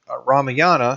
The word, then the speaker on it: Ramayana: the last thing on our screen is the Ramayana and the Rama yani Ramayana excuse me some of these being hard to pronounce but it really contains another story and